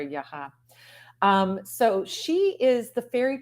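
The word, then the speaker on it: Яга: It's just a different sort of sound to that second syllable of Yaga or Yaha.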